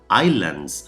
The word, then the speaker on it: islands: Islands and seas, islas y mares, islands, que no islands, ¿eh? La S no la decimos cuando pronunciamos islands.